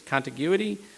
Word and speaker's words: contiguity: And I always screw up the pronunciation of this word, but I always want to call it contiguity, it's contiguity.